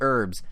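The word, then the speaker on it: The Urbz: which by the way it's not just called the herbs spelled with a Z it's the herbs Sims in the city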